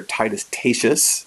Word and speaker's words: Titus Tatius: would be t2 statues sometimes we call them tightest adieus or titus tatius is some how other people pronounce it I kind of like tightest Atias I don't know something